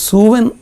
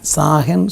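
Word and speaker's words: Samhain: അവരുടെ ഇടയിൽ ഈ മരിച്ച ആത്മാക്കളെക്കുറിച്ചുള്ളൊരു സങ്കല്പം, ഒരു സൂവൻ എന്ന് പറയുന്ന സാഹൻ സൂവൻ എന്നൊക്കെ പറഞ്ഞ പല ഉച്ചാരണങ്ങൾ അതിനുണ്ട്.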